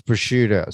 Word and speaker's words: prosciutto: Is that how you pronounce it? Yes, that's prosciutto.